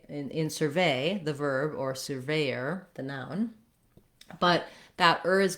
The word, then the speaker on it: surveyor: For surveyor, you might want to try practicing with starting on the stress syllable ve, veyor, surveyor. That can help you get the rhythm correct.